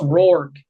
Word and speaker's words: Rourke: Curtis Rourke. Rourke, Rourke. Rourke. With a K. Yeah, there you go. Well, I heard a G out of Tyler's mouth. So Curtis Rourke at plus 1400 has entered the chat.